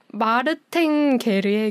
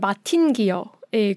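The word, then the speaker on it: Martin Guerre: 준다는 걸 이렇게 돌려서 얘기하는 건가 영화 제목은 마르탱게르의 귀향이라는 영화고 프랑스 영화인데 미국 쪽에서도 번역이 돼서 미국판으로 할 때는 마틴기어의 귀향이라는 마르탱네 브러 식으로 하면 마르탱 게르 게르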